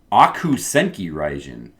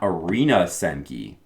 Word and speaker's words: Akuu Senki Raijin: Akuu Senki Raijin, not Arena Senki.